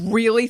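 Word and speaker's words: Reel: love real paper and it's spelled r-e-e-l so real paper it's soft it's strong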